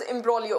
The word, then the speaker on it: imbroglio: Yes, it is written as imbroglio, but it is pronounced as imbroglio.